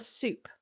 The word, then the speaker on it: SEWP: Then there's NASA soup and soup is spelled sewp.